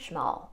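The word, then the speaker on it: Szmal: just going to pick up some more Roman shal I know I keep saying that name it's spelled s z m a l and so that's pronounced shal I didn't know that until I watched a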